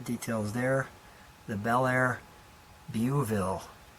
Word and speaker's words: Beauville: The Bel Air Beauville. Beauville, maybe I'm saying it wrong. Beauville's correct. Beauville's correct.